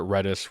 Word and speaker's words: Redis: i s I think it's pronounced redis for redistribution or something like that anyway I've heard it reddis Reus Etc um anyway it's